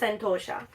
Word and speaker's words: Antosha: It's pronounced Antosha.